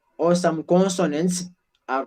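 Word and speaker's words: consonne: I will never say consonants as we have done in English. No, I have to simply say consonant. That S is silent.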